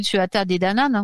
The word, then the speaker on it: Tuatha Dé Danann: Donc, les anciennes légendes suggèrent que les Tuatha Dé Danann, donc ça s'écrit Tuatha Dé Danann, vous savez, voilà, bon, ça se prononce Tuatha Dé Danann.